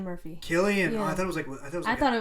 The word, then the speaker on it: Cillian: But the one where they had Margot Robbie and how do you pronounce his name? Cillian Murphy. Oh, Cillian Murphy. Murphy. Cillian.